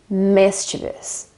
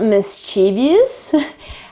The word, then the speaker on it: mischievous: mean okay and uh the word is mischievous mischievous it's not mischievous as I think most Italians say uh I don't know about you let me know but also some English or anyway native speakers um can make this mistake quite often so it's mischievous and the accent is on the first I sound so let me know